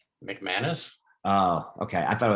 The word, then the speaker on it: McManus: on sticky bandits is that how do you pronounce his last name mcmanus oh okay i thought it was nick um anus i wasn't sure how to how to say